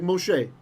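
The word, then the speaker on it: משה: So usually when you see a hey at the end of the word, you're not going to pronounce it, right? Like Moshe. We don't say Moshe, right?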